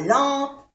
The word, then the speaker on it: lampe: AM es una vocal nasal que se pronuncia en. Lampe. No se pronuncia la E.